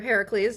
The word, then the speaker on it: Heracles: Uh so, Hercules or Heracles, depending on how you would like to pronounce it, um was one of my favorites.